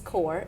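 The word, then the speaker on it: Coure: Yeah, well, the name of my business is CORE, and it's spelled C-O-U-R-E.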